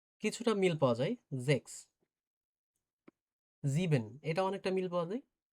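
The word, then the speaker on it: sieben: সিক্স ডে জেক্স কিছুটা মিল পাওয়া যায় জেক্স জিবেন এটা অনেকটা মিল পাওয়া যায় তবে ডচের উচ্চারণটা অসপখিটা অনেকটা আলাদা জিবেন এইযে এসই এ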